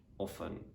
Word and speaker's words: often: other random words like often in which letter t is silent also you can say often as well yeah the let's say